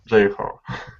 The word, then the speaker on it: Jeho: How do I pronounce this name? A Jeho. Jeho. Yeah, that's a Korean name actually.